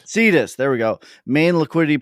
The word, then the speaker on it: Cetus: How do you pronounce it? Cetus? Cetus.